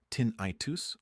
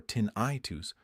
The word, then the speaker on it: tinnitus: Pronounced either tin-i-tus or tin-i-tus. Both are correct.